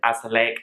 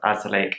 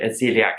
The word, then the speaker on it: azelaic: on the benefits of azelaic acid which I will link up above just be warned I call it Azealia acid throughout the video which is not how you pronounce it glycolic acid is a